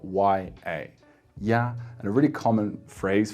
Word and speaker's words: 也: Next, we have the pronunciation ye, which is E plus e, that third pronunciation of E that sounds like the E in number 10. So most likely the most common word for this pronunciation would be ye with a third tone, which means also in Chinese.